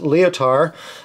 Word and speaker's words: Lyotard: They're the brand name is Lyotard, which I believe is pronounced Lyotard.